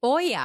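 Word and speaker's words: olla: o l l a it's called it's actually pronounced Oya so it's a Spanish name oh is it okay Oya yeah Oya okay and OAS are so cool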